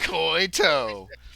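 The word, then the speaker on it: Coytow: oh my god koito it kind of sounds like coyote it does a little bit but it's c-o-y-t-o-w koito or tau but the kid pronounced it toe anyway it's not t-o-e koito cause you got one toe uh anyway um so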